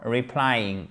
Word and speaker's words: replying: nom, mais regardez, for replying, OK? For meeting with us. Thank you for your reply. Thank you for replying. Replying, accent tonique sur la seconde syllabe, OK?